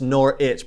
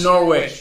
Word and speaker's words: Norwich: witch it's not norwich it's nor itch pretend the w is island nor it yeah not norwich got it got it